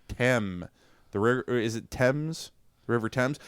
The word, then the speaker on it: Thames: Between Oxford and Cambridge along the river Temps. It's spelled thames.